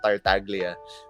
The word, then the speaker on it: Tartaglia: or spelled like that I think of Italian so it would be tartalia but people pronounce it as tartaglia but yeah so I